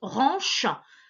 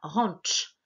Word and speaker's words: ranch: ranch le ranch toi si tu prononces ranchin c'est normal des français vous faites nous le chc ch par contre en américain on dira rentres tu vois comment tant le ton juste avant le le chu où ça fait le ranch et montrent inquiètes pas tu as droit de prononcer ranches donc le propriétaire du